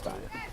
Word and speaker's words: Dias: They pronounce it Dias. It's Dias.